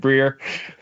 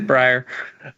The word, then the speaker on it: Brier: called the Brier score I did have to look up how Brier pronounced his own name because if you asked me I might have said Brier but it is Brier um but it is